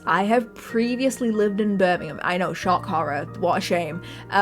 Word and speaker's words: Birmingham: The difference, like Birmingham, that's how they pronounce it, right? No, it's Birmingham. Cut out like half less Birmingham.